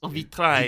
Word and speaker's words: vitrail: So is there no pronunciation of the L? AIL is I, so it makes Vitrail.